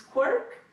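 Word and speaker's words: CWRC: next iteration of the Canadian writing research laboratory which we pronounce quirk institutional and international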